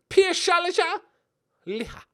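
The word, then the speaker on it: Pershaja Liha: And obviously the league, if you don't know how to pronounce it, it's Piershalja Liha.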